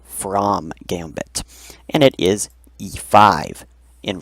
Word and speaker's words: From Gambit: It's spelt like you would spell from, but it is called from Gambit. And it is e5 in reply. So this is actually a very sharp reply known as the from Gambit.